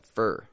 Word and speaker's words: for: middle of a sentence we reduce it to a fur and we link it to the following word however if this is the final word in a sentence we pronounce that full for for so you know